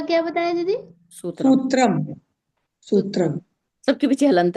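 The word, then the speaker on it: सूत्रम्: किस में क्या लगेगा उच्चारण से समझिए सूत्र मैंने कहा मैंने सूत्रम नहीं कहा सूत्रम तो सूत्रम यानी बड़ा ऊ बड़ा ऊ पड़ेगा इसमें और पीछे हलंत है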